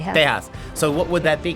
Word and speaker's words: Tejas: Oh, there is No, I'm going by the Mexican pronunciation. Tejas.